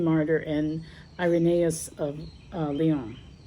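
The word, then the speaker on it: Lyon: and Irenaeus of uh Leon. So, or lie, you know, that's how you say it.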